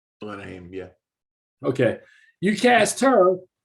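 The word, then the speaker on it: Alana Haim: The fact that you cast this actress, I think her name is Elena Heim. Elena Haim, yeah.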